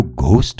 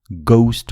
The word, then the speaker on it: ghost: यो घोस्ट होइन, गौस्ट हो। अंग्रेजीमा घ को उच्चारण हुँदैन। यस्ता शब्दहरूमा GH लेखे पनि उच्चारण चाहिँ घ नभएर ग नै हुन्छ।